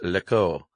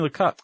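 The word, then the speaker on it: Lecoq: study at the uh, Echo International de Jacqu Lau. Jacqu Lok Jacqu Lok. Is that how it's pronounced? Yeah. You sure it's not Lau? No, it's definitely Lak.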